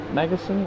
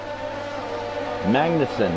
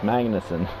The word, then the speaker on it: Magnussen: between stroll and making is it matt magason i don't know i can't pronounce his name lewis hamilton's braving damonic of kevin magnussen that's it magnuson some good racing so